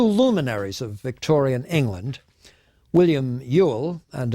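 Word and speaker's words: Whewell: of Victorian England William Ewell and anybody who wants to know how you can get a pronunciation Yule out of w-h-e-w-e-l-l must look into remote Celtic sources William Ewell and Alfred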